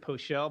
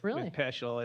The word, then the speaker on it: Peschel: I pronounce it Poschel, but you're more accurate with Peschel and the German pronunciation.